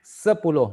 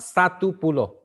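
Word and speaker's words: sepuluh: you can say we have sepulo for 10 sepulo not satupulo we don't pronounce Estates okay and then you pronounce um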